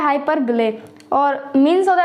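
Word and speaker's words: hyperbole: Type, जो कि है हाइपरबोल। अब देखिए कुछ लोग इसकी प्रोनाउंसिएशन गलत बोलते हैं, हाइपरबोल बोलते हैं, बट इट्स नॉट हाइपरबोल, इसकी सही प्रोनाउंसिएशन है हाइपरबिले, हाइपरबिले। ओके, तो इट्स नॉट हाइपरबोल, इट्स हाइपरबिले।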